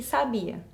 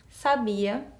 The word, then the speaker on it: sabia: alternativa a mãe sabiá sabia onde estava o sábia então quando eu pronuncio essas palavras com acento correto Eu percebo que muda o sentido e qual que tá